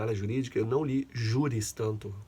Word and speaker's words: juris: Aqui uma observação também para quem está chegando na área jurídica: eu não li juris tanto. O J, ele vira I na pronúncia em latim, iota.